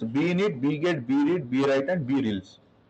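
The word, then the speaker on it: brelse: bget, bread, bwrite, and breels. Brelease, actually, it's spelled as rels, but it should be called brelease.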